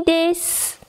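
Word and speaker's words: です: On ne prononce également pas le U de desu et mas. Arigatou gozaimasu. Ohisashiburi desu.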